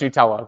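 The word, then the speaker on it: Gnutella: at this yeah well it actually is pronounced Nutella but yeah it's I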